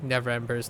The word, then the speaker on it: Neverember: I remember I had trouble pronouncing Neverember's name because I have this habitual need to say never remember by like adding that extra syllable, but it's Neverember.